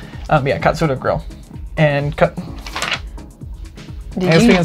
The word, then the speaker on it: Katsura: saying it was like, if you were American, you pronounced it cat. Then a lot of Americans pronounce it Katsura. And I couldn't make myself pronounce it because I've been working on Japanese so much.